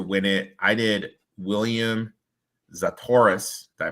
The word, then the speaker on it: Zalatoris: I did William Zalatoris. Did I pronounce that right? Yeah, Zalatoris.